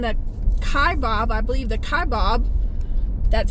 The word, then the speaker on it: Kaibab: I believe the Kaibab, that's how you say it, National Forest.